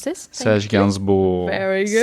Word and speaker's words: Serge Gainsbourg: And you can pronounce this? Serge Gainsbourg. Very good. Serge Gainsbourg.